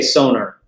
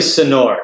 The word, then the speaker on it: Sonor: Well, I say Sonor, but it's really Sonor. Sonor, okay.